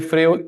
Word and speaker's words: Freud: Se escribe Freud, pero se pronuncia Freud, ¿ya?